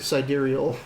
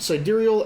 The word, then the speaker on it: sidereal: Sidereal. Yeah. Yep. Sidereal Astrid Skufdoter.